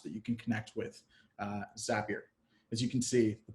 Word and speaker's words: Zapier: that were wondering uh zapier rhymes with happier and that's how you pronounce it so zapier allows you